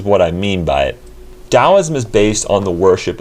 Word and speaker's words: Taoism: you say it tau and the d and the t sounds similar when it rolls off the tongue but i'm just going to call it here taoism just to stick with